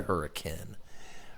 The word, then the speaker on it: Hurricane: That's spelled hurricane, said hurricane.